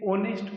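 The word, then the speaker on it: honest: word हैं English में जिसमें एच साइलेंट होता है, जैसे कि ओनेस्ट, ये एच से स्टार्ट है लेकिन हम इसे ओनेस्ट पढ़ते हैं, ओ, जो कि एक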